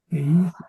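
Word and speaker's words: εἷς: eh, Por eso yo lo pronuncio como correcto. geis, mía, gen. Heis mia gen.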